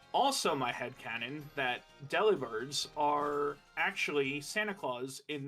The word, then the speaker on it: Delibird: Delibird. What is Delibird? It's supposed to be a play on words where it's supposed to be delivery bird. But it could also be Deliverd cuz like delivered but bird.